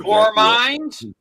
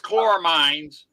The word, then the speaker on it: chloramines: saying it quite right so I'm not sure chor mines is it chor mines is like chlorine but